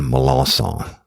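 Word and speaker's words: Melancon: is an understatement but Roy Allen malonson and that's a good strong cjun name it's spelled me e l a n c o n was born February the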